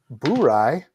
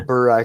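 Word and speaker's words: Bourye: Why do you say boo rye like that, dude? That's the wrong pronunciation. Man, I thought that was 90 proof. I'm like, no, Yeah, it's a bur rye because it's definitely not bourbon. It's boor. It's B-O-U.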